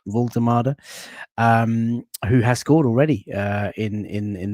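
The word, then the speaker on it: Woltemade: How do you pronounce it? Voltemade. Voltemade, who has scored already in the barcode kit there.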